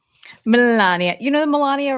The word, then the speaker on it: Melania: You know, Melania rhymes with Somalia. And I've noticed that he doesn't say it like Somalia Somalia Somalia.